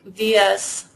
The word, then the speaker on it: Vyas: And then Bhavik Vyas, Director of Technology Sales and Partnerships at Aspera. And I think I pronounced his last name wrong. It's Vyas.